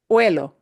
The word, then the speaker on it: huelo: It's huelo, huelo, huelo con H, with an H, which we don't pronounce the H, pero en presente.